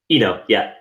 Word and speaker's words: Eno: So really, you had this idea of creating this business, and again, why Eno or Ena? How do you pronounce it? Eno, yeah.